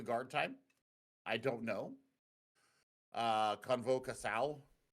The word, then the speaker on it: Convocação: Convocação is how you pronounce that in Portuguese.